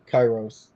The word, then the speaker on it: Kairos: So Kairos is the Erasmian pronunciation for the Greek. It's ancient Greek, Koine Greek. So modern Greek has different pronunciation than that. So I mean, it's saying it Kairos doesn't really matter.